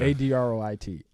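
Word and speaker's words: adroit: sorry spell it man a-d-r-o-i-t a droit a droid yeah that's different than andrew it sure is you've been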